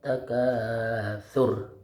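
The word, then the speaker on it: التكاثر: Kalau ayat 1 dan 2 itu dibacanya tidak panjang. Alhaakumut takatsur, tidak panjang surnya.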